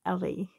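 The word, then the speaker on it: Ele: e l e and that's how she will spell her name is e-l-e and but you pronounce it Ellie so yeah here's Ellie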